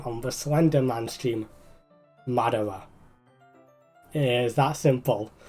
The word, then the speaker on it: Madara: Madara. It is that simple. Don't put too much emphasis in the R part. So it's Mad-A-Ra.